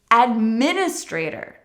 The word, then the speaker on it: administrator: So keep watching administrator Administrator again, let's focus on the stress here Administrator we actually have a big stress on min and a secondary stress later in the word professions often end in